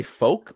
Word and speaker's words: Folk: Do you say folk or folk? Some people say folk. I've been saying Folk, but they told me, why would you pronounce it that way when his last name is Woke?